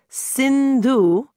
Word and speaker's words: Sindhu: here's a little tip Sindhu rhymes with Hindu which I am hey how